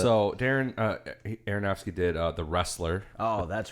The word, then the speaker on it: Aronofsky: So Darren Aronofsky did The Wrestler.